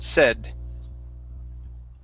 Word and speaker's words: said: That's pronounced like that, said. Okay, with a short E sound.